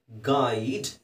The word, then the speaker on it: guide: Okay, ಮುಂದಿನ ಪದ GUIDE, ಏನಾಗುತ್ತೆ ಇದು ಗುಯಿಡ ಗು ಜಿ ಯು ಗು ಆಗುತ್ತಲ್ಲ GUIDE ಗೈಡ್.